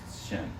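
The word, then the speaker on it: שם: pronounced Shem, Okay.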